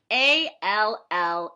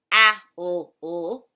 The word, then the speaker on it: all: On page 15, we see ALL in the corner. And when we see ALL in a word, we don't pronounce it owl. We don't say owl. Nope. We pronounce it all.